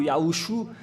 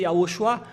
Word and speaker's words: Yahushua: C'est lui qui a inventé les faux noms et même certains arrivent à prononcer Yahou, Yahouchou. Si on devait prononcer Yahushua, ils sont bizarres, ils prononcent Yahouchou car ils sont avec